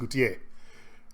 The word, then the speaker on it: Gautier: Goutet, his name is Goutet. That's how you pronounce it, Gautier.